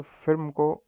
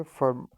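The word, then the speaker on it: firm: तो यहाँ पे एक्स्ट्रा जस्ट फॉर प्रोनाउंसिएशन के लिए कि फिल्म नहीं पढ़ेंगे, इसको हम पढ़ेंगे फर्म।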